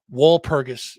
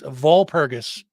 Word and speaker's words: Walpurgis: Tomorrow night, though, 8 p.m., King's Inn, Walpurgis is Volpurgis. I believe it's pronounced with a V, as I was corrected earlier.